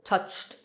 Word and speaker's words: touched: If the last sound in a word is voiceless, then uh the ed ending is pronounced t. For example, touched. Touched. This sound ch is voiceless. So touched.